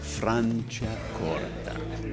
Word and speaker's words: Franciacorta: And the secret to pronouncing Italian is to say it slow. Franciacorta.